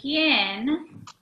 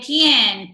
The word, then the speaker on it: quién: ¿De quién? Right? We need to sound out the QU together and the IEN. ¿Quién temeré? The accent is on the E.